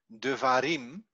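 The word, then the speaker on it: devarim: you find the uh the word like de varim then the accent is on the last syllable and you see it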